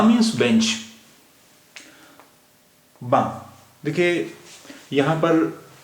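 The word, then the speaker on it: banc: पढ़ रहे हैं बा उसका रीजन यह है कि फ्रेंच में जो ज्यादातर किसी वर्ड का किसी शब्द का जो लास्ट कंसोनेंट होता है उसे हम प्रोनाउंस नहीं करते ऐसा कोई रूल पक्का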